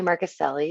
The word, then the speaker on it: Marcuselli: to you thanks Kim Molly marcuselli it's how you pronounce my last name it's a tough one um I today is